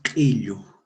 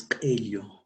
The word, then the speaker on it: qillu: El otro ejemplo, qillu, qillu. Y mientras que en la forma oral es qillu con la E y con la O. Qillu.